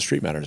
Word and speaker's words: Streitmatter: common name okay uh that's where the original Street matter settlers Mo sett settlers settled in the mid 1800s M uh and as result there's loads and loads and loads of Street matters around so that's how everybody pronounces it and it was just easier to